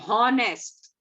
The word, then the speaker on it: honest: Whatever comes with honest, all the words that H is silent.